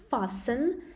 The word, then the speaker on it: fasten: This last one, pay attention to the pronunciation of the verb fasten. Fasten, here we have letter T that is silent.